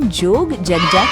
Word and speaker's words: Yogyakarta: में गए जी हां सिटी का एक्चुअल प्रोनाउंसिएशन जोग जगजा करता है।